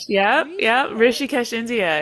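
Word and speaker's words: Rishikesh: Is it ricocheted? I don't even know how to pronounce it. Rishih. Yep. Yep. Rishies, India.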